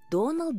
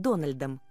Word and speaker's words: Донал: это сри замка Дональд его имя произносится без буквы д Доналд элани он Ирландец и ему не нравится когда его называют дональдом он гордится своим происхождением ещё